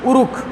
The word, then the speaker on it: Uruk: एक टर्म आती है URUK, उरुक। इसको क्या बोलते हैं, उरुक। हिंदी में बोला गएगा उरुक, इसका प्रोनाउंसिएशन उरुक।